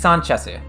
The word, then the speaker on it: Sanchez: his Sanchez is uh it's slightly different right it it's sanchezu Sanchez with that with an S sound not with a z or or a zed sound depending where you're from